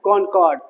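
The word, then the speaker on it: Concord: पहला लिखो battles of लेक्स्टिंगटन एंड कॉनकॉर्ड। Battles of लेगिंटन एल ई एक्स आई एन जी टी ओ एन यह spelling है ले क्या बोलते हैं इसको लेक्सिंटन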